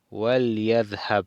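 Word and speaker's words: وَلْيَذْهَبْ: Aquí dice wal yadhab, con el waw, no se pronuncia el lam con la i, sino con sukun.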